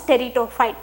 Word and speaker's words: pteridophyte: P is silent here, so you should pronounce pteridophyte.